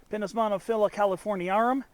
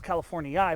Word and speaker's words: californiarum: subspecies of Pinus monophylla, californiarum. I mispronounced it in the previous video as Californii, but I think it's Californiarum.